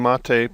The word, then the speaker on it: MATE: And it says the name Mate, pronounced Mate, comes from the yerba mate, a species of holly native of subtropical South America.